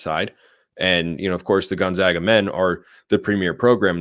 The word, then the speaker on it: Gonzaga: They have, which is pronounced Gonzaga, not Gonzaga. It's Gonzaga, Santa Clara, St.